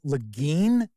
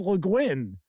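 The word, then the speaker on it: Le Guin: leguin i you know I've heard people pronounce it lein that is not right it is leguin I'm sure somebody will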